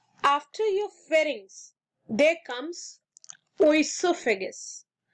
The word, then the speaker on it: oesophagus: Then, after your pharynx, there comes oesophagus. O is silent, so we can call it as esophagus also.